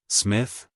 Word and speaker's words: Psmith: is Smith P Smith the p is silent Smith Smith Miss Clarkson brooded